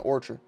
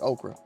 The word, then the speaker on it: Ochre: bad I keep saying orra yellow yellow okra somebody told me that's how you pronounce it like okra so uh yeah these